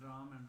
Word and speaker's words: Rama: The way you explain Ram and Rama, they are both okay, but best to pronounce Rama in the chanting.